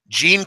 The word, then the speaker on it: Jean: But pronunciation for Jean Seagura like blue jeans.